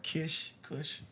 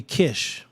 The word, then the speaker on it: Kish: They don't say it right. Kush, you know. Oh, Kish. Yeah, people say it's the ancient land is really Kish. A lot of conscious people are going to be angry at me. Spell that. It's just a K and a SH.